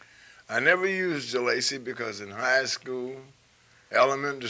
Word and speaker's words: Jalacy: point of it is no one could ever pronounce it right jalape jalup galassie and I said well if you're the teacher and I'm the pupil why can't you pronounce my name right so why don't we